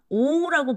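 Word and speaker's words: を: 을이라는 목적격 조사를가 볼게요 자 얘는 어떻게 발음하면 오라고 발음하시면 돼요 자 얘는 목적격 조사에서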